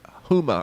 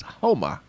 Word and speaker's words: Houma: over in uh homa i pronounced it huma earlier and i apologize to that it's homa and over here in